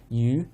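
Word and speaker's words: 鱼: Obviously, yu in Chinese is how you pronounce fish, and it also is how you pronounce surplus.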